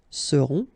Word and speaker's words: seront: pronounced, then on, on, seront. Vous serez, a Z together at the end, et serez, all right? Ils seront, final T not pronounced, and then you've got this nasal, on, seront, elles seront.